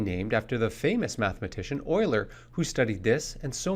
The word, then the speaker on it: Euler: it's called euler's method despite the pronunciation it has nothing to do with failing to appear in the nhl playoffs the method is actually named after the famous mathematician euler who studied this and